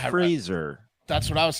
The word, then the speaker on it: Fraser: I mean, It's pronounced Fraser.